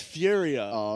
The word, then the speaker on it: Furia: I pronounce um Furia it's Furia it is Furia f uh Esports he obviously